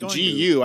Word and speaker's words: Gu: And is it Gu or Go? I don't even know at this point. It's pronounced Gu.